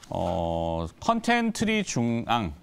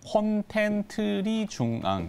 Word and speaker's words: 콘텐트리중앙: 오늘은 컨텐츠리 중앙, 발음을 정확하게 하면 콘텐츠리 중앙 이렇게 됩니다.